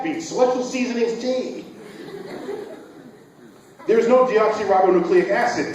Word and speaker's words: deoxyribonucleic: it didn't you why because it has nine syllables deoxyribonucleic acid what do we